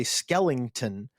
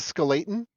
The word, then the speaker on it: skeleton: skeleton," as and then I realized I say skellington, and then I wrote skeleton, and then I was like, "Do I know how to spell the word skeleton?" It's actually pronounced skeleton.